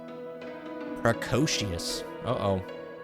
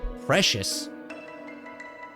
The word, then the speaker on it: precocious: She was a precocious. Precious. It's not precious. It's time to look it up. The pronunciation. Precocious, I think.